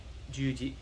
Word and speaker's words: juji: so juji katame so if you hear how john danaher senpai says it where he's like juji that's how you kind of say it you never put the wrong emphasis on the wrong syllable okay it changes the sound of it right so i can't